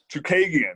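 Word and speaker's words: Chookagian: Chukagian, yes, there you go.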